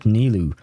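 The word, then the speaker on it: Nilou: Because the way it's written in the game, N-I-L-O-U, it is the way a French person would write it.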